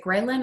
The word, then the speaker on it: ghrelin: So when you're dieting, your is it ghrelin? I don't know how to pronounce it correctly.